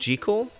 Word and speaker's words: Jekyll: Yeah, somebody told me that it's pronounced Jekyll. I don't know who told me that, but it's pronounced Jekyll, and because of American pronunciations, like, we've ruined it forever.